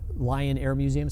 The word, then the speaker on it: Lyon Air Museum: Lion Air Museum, spelled with a Y, Lyon Air Museum.